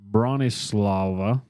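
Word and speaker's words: Bronisława: So Maria and her older sister, Bronislava, became Spell that one. Bronislawa. Bronislava. Okay. Kind of sounds like the room is lava in a way.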